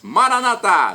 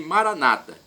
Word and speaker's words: Maranatá: Jesus, para o português: Maranatá, vinde, Senhor Jesus. E os nossos irmãos separados, os evangélicos ou protestantes, dizem Maranata, com a tônica na penúltima sílaba. Não tem problema, o significado é o mesmo.